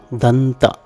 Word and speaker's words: danta: Yet another instance is the Vedic name for teeth, danta. There are 3 syllables used here, da, n, ta.